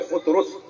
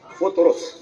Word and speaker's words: فطرس: نام ہے وہ ہے فطرس۔ صحیح تلفظ ہے فطرس، فے پہ پیش ہے، فطرس، ٹھیک ہے؟